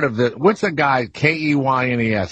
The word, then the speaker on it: Keynes: Now, is that part of the, what's the guy, K-E-Y-N-E-S, how do you pronounce that?